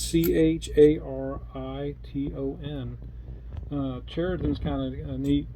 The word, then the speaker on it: Chariton: I think I pronounced Chariton correctly. It's Chariton.